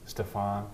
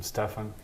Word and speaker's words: Stefan: People would call me Stefan, which is not correct. I'm Stefan, and it's also Kenic.